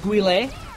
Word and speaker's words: Guile: I think it's pronounced Guile. It's pronounced Guile.